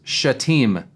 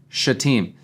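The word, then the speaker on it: Shittim: people at this time the way you pronounce this town this town is shaim shaim Stephen that's how you say it okay shaim and uh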